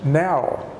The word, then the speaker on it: know: the funding language when we say no and the K of silent both the K and the W are silent because it's just no